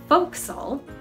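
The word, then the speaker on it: forecastle: triangular shaped area sometimes known as the four castle although usually pronounced foxyl so in the folk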